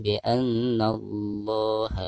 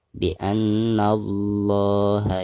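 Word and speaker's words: بأن الله: Nun yang bertasdid merupakan salah satu huruf gunnah. Jadi cara membacanya harus ditekankan sekaligus digunakan. Bi anna Allah. Lam jalalah sekaligus sebelum lam jalalah tersebut ada huruf yang berharkat fathah, maka cara membaca lam jalalahnya itu harus ditebalkan. Bi annallaha yara, seperti itu.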